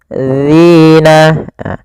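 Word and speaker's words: الَّذِينَ: Kemudian di sini pada lafal dzina hati-hati dalam melafalkan huruf dalal jangan sampai terbaca dengan huruf zai. Ini yang sering terjadi kesalahan adalah mengganti dengan huruf zainnya. Hati-hati agar sempurna dari makhraj dan sifatnya adalah ujung lidah kita kita tempelkan dengan gigi atas agak kita keluarkan sedikit sehingga berbunyi dzi dzi maka faammalladzina dzina.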